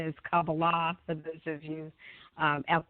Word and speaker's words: Kabbalah: And when I found Kabbalah, and the correct pronunciation is Kabbalah, for those of you out there that kind